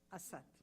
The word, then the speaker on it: Assaad: Ahmed Assad who Assad I thought if I say Assad you will say this is a persan yeah as said if I say Asad you will say this is a Persian pronunciation so switch it to Arabic okay make it clear